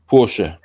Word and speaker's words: Porsche: In German, you pronounce pretty much all the vowels. So if there's an E on the end, you pronounce that So there you go.